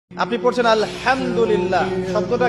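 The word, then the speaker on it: الحمد لله: আপনি পড়ছেন আলহামদুলিল্লাহ শব্দটা কি আলহামদুলিল্লাহ এই হা এর মাখরাজ কোথায় কন্ঠনালী মাঝখান থেকে এখান থেকে আপনি উচ্চারণ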